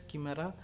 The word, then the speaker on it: chimera: humanized antibodies there but there is chimera in also we can pronounce it as camera there is also 33